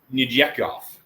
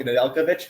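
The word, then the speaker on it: Nedeljkovic: good goalie year before that and again my pronunciation Alex Nijekovich Nadel Nadelovic thank you exactly exactly right like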